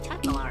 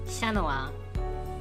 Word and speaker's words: Chat Noir: My favorite card out of that set was Chat Noir, actually. Wait, no, that's not how you pronounce it. Let's do it more Frenchy. Chanoa.